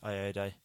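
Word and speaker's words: Ayoade: but yeah this one won't actually have Richard I a day is how you say his name ird ird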